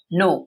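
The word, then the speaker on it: know: जानना को बोलते हैं नो यहां पर के साइलेंट होता है नो का सेकंड फॉर्म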